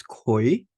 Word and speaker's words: Gui: This is pronounced as Kui. Kui is GUI, but it's pronounced as K sound.